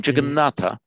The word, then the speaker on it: Jagannath: So the dental T assimilates to the dental N, Jagannatha. In modern Hindi, a final a is not pronounced. So in modern Hindi, it's Jagannath. And it got anglicized to juggernaut, which is how that word has come into English.